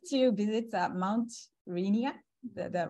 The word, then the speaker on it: Rainier: So actually, I like to come back in spring or summer, and I like to visit Mount Rainier, the right pronunciation.